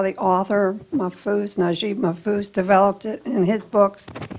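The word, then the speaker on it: Naguib Mahfouz: Can you talk about Taqiya as it relates to how the author Najib Mahfouz developed it in his books? And Taqiya? Yeah. I may not Mahfouz. Be pronouncing it correct.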